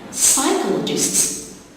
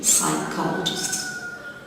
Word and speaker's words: psychologists: Psychologists, you got two silent letters, P in the beginning and the H after the C. Psychologists.